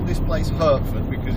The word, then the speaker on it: Hertford: Now I'm going to call this place Hertford because it's H-E-R-T-F-O-R-D. I do know a place that's H-A-R-T-F-O-R-D, so I'm going to call this one Hertford because it's in Hertfordshire.